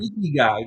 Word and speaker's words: Ikigai: think you call you had a name for it the is it the how do you pronounce it? It's a Japanese Oh, term. Ikigai.